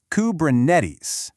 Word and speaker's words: Kubernetes: So, the pronunciation follows its Greek roots with the stress on that third syllable, Kubernetes, not naties, neties.